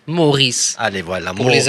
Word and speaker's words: Morice: Est-ce qu'on le prononce Maurice ou Mo.Rice? Maurice.